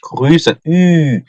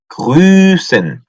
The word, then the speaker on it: grüßen: 우 umlaut 발음 어떻게 한다 그랬죠? 우 하고 입을 쭉 내민 상태에서 입 모양은 바꾸면 안 돼요. 으죠. 우에서 위가 아니고 으. 으. 그래서 grüßen. grüßen. 발음이 좀 어렵죠? grüßen. grü. 그 리센이죠.